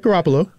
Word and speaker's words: Garoppolo: trade for jimmy garoppolo i know i butchered that name now you got it right garoppolo garoppolo girl i'm not